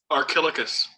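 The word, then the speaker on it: Archilochus: you know this crap say it again john archilicus okay thank you sir see i couldn't even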